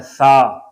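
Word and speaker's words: ثا: یہ شکل ہے اور یہ اس کا نام ہے سا. جی سا اور الف دونوں ملا کے سا. جی سا پلس الف سا. زبر ہے, زبر میں منہ کھلتا ہے سا سا سا.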